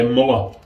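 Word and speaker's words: Mühle: he said he's smaller so what will say Muller mama so that's how we'll pronounce it or Marilla there you go these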